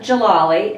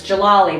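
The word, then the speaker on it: Djalali: for years but it's Jalali the D is silent so here's a little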